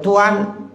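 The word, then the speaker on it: طوى: Boleh tuan boleh juga tua. Jadi bitanwin watarkihi boleh pakai tanwin boleh tinggalkan tanwin. Berarti isim ghairu munsarif. Jadi lafaz tuan ini boleh munsarif boleh ghairu munsarif. Nah kalau kita bacanya pakai tanwin ya. Jadi fakla alaika innaka bil wadil muqaddasi tua. Nah, kalau waqaf, kalau enggak wakaf kan ditanwinin tuan ya.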